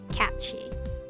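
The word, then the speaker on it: Cait Sìth: So this is pronounced cat. That's pronounced she? Okay, cat she.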